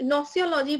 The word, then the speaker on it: gnoseology: gnoseology शब्द का मतलब क्या है, yesterday I extend subscription, ठीक है, ये नोसियोलॉजी बोलते हैं, वैसे जी साइलेंट है फिर भी आप पढ़ने के लिए देख सकते हो।